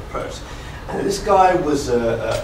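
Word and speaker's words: Peirce: is called Charles Sanders purse p e i r c e most people say Pierce it's actually pronounced purse and this guy was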